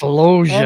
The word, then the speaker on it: Loggia: Robert Loggia. Loggia. It's pronounced Loggia.